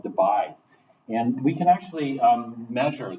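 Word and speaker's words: Debye: measured in units called Dubai and we can actually measure this experimentally if we wanted to divide the unit and it's not spelled like the spelled differently d-y-e yeah not Dubai it reminds me of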